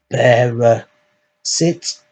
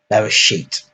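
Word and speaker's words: בראשית: So this is transliterated into English, so that would be something like Beresit. It's actually Bereshit.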